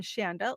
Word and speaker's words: Chanda: So I always tell people I am Chanda, like a chandelier, because they tend not to remember. If I just tell them it's Chanda, they think of an S maybe because it's spelled with the C.